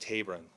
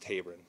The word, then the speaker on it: Taberon: She expressed to us, and we said that we would pass along, that his name is pronounced Taberon, first name pronounced Taberon, according to the mother, Taberon Honie.